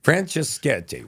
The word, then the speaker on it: Franceschetti: So how do we pronounce your last name, Franceschetti. Franceschetti.